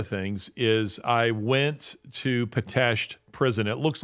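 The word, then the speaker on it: Pitești: among many other things is I went to patasht prison it looks like potesti but it's pronounced batashed potato prison in Romania um at one time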